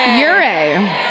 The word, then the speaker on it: Ouray: Miraculously, on January 21st, 1874, they stumble upon a Native American encampment near Montrose, led by Chief Ouray. Ouray. Then why does it say our? Literally Ouray. Spell it like you say it, Chief Ouray.